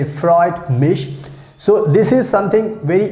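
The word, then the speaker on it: freut mich: meet someone first time so you can say freud mish so this is something very easy you can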